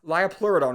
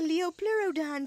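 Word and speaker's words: Liopleurodon: It's so fire that it taught an entire generation of kids to pronounce liopurodon wrong. It's a Leopurodon, Charlie.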